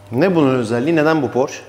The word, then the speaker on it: Porsche: Why this Porsche? Porsch or Porsche? (pronounced) Porsche. Germans and foreigners say "Porsche", we say "Porsch", it doesn't matter brother.